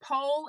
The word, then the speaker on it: Pol: it does make sense I love that it's pole and Patrick I think I have heard the